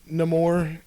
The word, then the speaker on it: Namor: Why haven't we seen Namor yet?